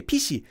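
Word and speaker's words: 피시: doesn't have an F Koreans would pronounce this as pishi pishi so there's a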